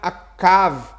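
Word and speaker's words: עָקָב: Quando você quer tratar de enganador, você pronuncia Akav. Mas os dois se escrevem da mesma maneira.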